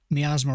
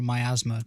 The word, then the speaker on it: miasma: Miasma or myasma, depending on who you ask, how you pronounce it.